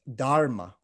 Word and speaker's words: dharma: word it's got an a harder r it's dharma versus this pali pronunciation which is dama it's kind of got a slight lift lisp to it most poly words sound a little bit like sanskrit words but they have a slight lisp to them the point is is